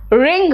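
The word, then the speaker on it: wring: silent है इट्स राइट W silent है देखो रथ रथ मतलब गुस्सा रिंग रिंग मतलब निचोड़ ऐसे जैसे पानी निचोड़ हैं रंग एंड रैप देखो सब जगह डब्लू साइलेंट है है ना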